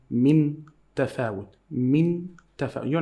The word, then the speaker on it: من تفاوت: There is nothing on the noon. Why? They make it as a sign for you to know that we are not going to pronounce it a clear noon.